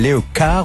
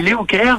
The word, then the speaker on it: Léocare: On dit Léocare parce qu'en effet, comme on le sait tous, en anglais, care, c'est le fait de faire attention aux autres.